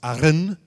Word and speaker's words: Arran: the Isle of Arran, which I think you're supposed to pronounce Arran, because you roll everything with the R in Scotland.